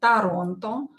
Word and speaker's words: Торонто: For example, Toronto, we say in Russian. We pronounce this O and this O as A.